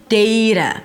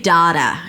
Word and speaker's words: data: Dei-duh. You can also say daa-duh and then use the /aa/ as in father sound but still make sure it's a flap T.